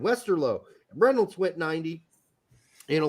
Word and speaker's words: Westerlo: Pete calls him, Westerloo, even though there's not 2 O's at the end. It is Westerlo, by the way. Westerlo, not Westerloo. Waterloo has 2 O's in it, same country, and it is Waterloo. You have to have 2 O's in Belgium to make the Loo sound.